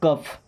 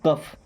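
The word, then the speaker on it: cough: फ देखिएगा सी ओ यू जी एच इसे बोलेंगे कफ क्या बोलते हैं कफ इसे कफ का मतलब खांसी होता है okay L ए यू जी एच इसे पढ़ेंगे लाफ।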